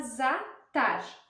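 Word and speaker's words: zathar: árabe então para temperar ele que se chama zatar tá se escreve assim zatar Z a t h a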